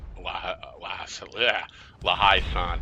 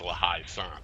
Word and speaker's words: La Haye Sainte: 5 guns firing at La Haye Sainte. I always say it wrong. I want to say La Haye Sainte. That's what I want to say, but it's La Haye Sainte.